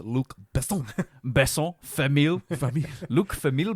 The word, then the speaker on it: Luc Besson: But it's pronounced Luc Besson.